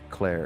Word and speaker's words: Clare: calling me Claire, that's just unfair language semantics. I'm sorry. I'm sorry my name rhymes with where.